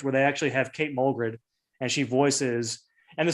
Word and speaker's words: Mulgrew: Am I pronouncing that correctly? It's Mulgrew, isn't it? Mulgrew. Oh, it is Mulgrew.